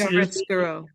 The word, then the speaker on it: chiaroscuro: This Chiaroscuro.